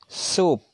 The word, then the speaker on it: soup: Soup. Soup. Oke ya, soup bacanya bukan sop ya.